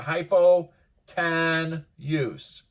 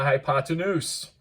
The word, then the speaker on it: hypotenuse: we call that the hypo tan use well if you put the wrong emphasis on your syllables otherwise it is the hypotenuse and so the hypotenuse